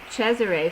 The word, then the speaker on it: Cesare: I had was named Cesare, phonetically spelled. That's the way you pronounce Caesar in Italian, but I didn't like Caesar, but I do like the phonetical pronunciation of Cesare.